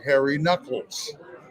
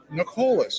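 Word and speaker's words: Nuckols: And I assume his name was Harry Nolas and it's pronounced Harry Knuckles. You don't know till you hear it though. Yeah, I thought Nolas.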